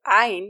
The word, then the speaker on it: عين: The ayn is pronounced by approaching the epiglottis to the back of the throat considerably. If you want to locate your epiglottis, try swallowing your saliva. The place that closes is where the ayn should be pronounced from.